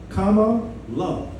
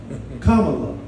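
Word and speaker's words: Kamala: They're telling people to make sure you say her name right. That's right. So we got to break it down, right? Comma, love. Comma, love.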